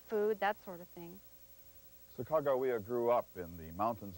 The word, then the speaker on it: Sacagawea: Eventually, Clark nicknamed her Janie, but her real name seems to have been pronounced Sacagawea, not Sacagawea. In legend, she guided the